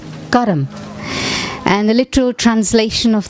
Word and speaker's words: karma: myself and my actions this word actually in hindi or in in sanskrit is pronounced karam and the literal translation